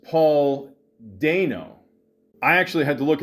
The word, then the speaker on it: Paul Dano: But, uh I don't understand all the hate with uh Paul uh Dano. See, now it's actually pronounced Paul Do.